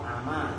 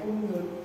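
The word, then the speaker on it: عمى: Kalau ama tuh yang kemarin udah tuh lihat salahnya bifathil aini wal mimi, dengan dibaca fathah ainnya dan mimnya. Ama itu masdarnya amia yakma, ngerti? Kalau kalian bacanya umyun, orang-orang buta.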